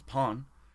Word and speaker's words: pain: pain like pastry because bread in French is Pawn which is spelled pen like a panel